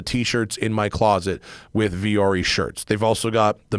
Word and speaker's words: Vuori: It's Viori, but it's spelled Vuori.